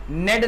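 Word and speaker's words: knead: लो तो क्या बोलेंगे नेट द फ्लोर ठीक है कि साइलेंट यहां पर नेट द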